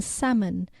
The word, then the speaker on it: salmon: P in receipt and a silent L in salmon to reflect their Latin